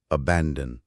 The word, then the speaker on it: abandon: بڑھتے ہیں، ابینڈن۔ جی، اس کا تلفظ ہے ابینڈن، درمیان والے حصے بین پر زور ہے۔ اور یہ ایک فعل